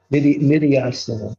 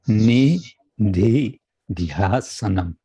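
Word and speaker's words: nididhyāsanam: Is that how you pronounce it? Nididhyasanam? Nididhyasanam. Nididhyasanam.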